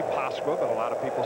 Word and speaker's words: Pasqua: Everyone has been calling him Pasqua, but of course that's not quite the pronunciation. Well, players don't want to get too hung up on. It used to be the same thing with Mike Pagliarulo or Pagliarulo, but Danny said it's really Pasqua, but a lot of people say Pasqua.